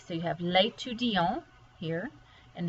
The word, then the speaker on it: l'étudiant: And this one, because it does not have an E on the end, you don't pronounce that T. But here, because you add the E to make it feminine, you do have to pronounce the T.